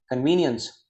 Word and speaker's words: convenience: So long vowel is used here. Long vowel is used. Convenience. Nians. Nians. Nians. Nians. Okay, again a sound. Nians. Convenience, we say convenience. Okay, so that's the exact way to know the pronunciation.